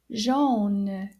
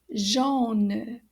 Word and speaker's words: jaune: is the spelling of yellow and it is pronounced jean can you repeat that jean now jean is written the same way when